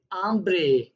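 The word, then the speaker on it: hambre: आचे जो होता है वो हमेशा साइलेंट रहता है स्पेनिश में, तो उसको प्रोनाउंस ऐसे करना है आचे। आचे दे ओला। आपने देखा होगा ये एच लिखा हुआ है, मैंने इसीलिए रेड किया है कि ये प्रोनाउंस नहीं होगा।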